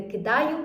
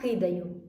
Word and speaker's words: кидаю: У відеоспробі, яку ви щойно переглянули, учениця зробила помилку, неправильно використала наголос у слові, а саме, треба говорити не кидаю, а кидаю.